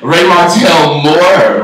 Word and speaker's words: RayMartell Moore: RayMartell Moore, right?